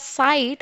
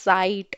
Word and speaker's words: Zeit: S, Zeit, S, Zeit. Instead of saying it as sight, I am saying it as Zeit.